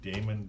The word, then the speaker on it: daemon: to create what's called a demon or sometimes I pronounce it daemon BAE mo n that's like the service